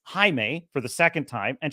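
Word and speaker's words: Jaime: the scene she's going to say oh it's pronounced Jamie and then he says no it's Hae for the second time and she says okay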